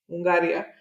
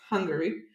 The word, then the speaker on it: Hungary: Sorry, because that's how it's said in English, not Hungaria. It's Hungary.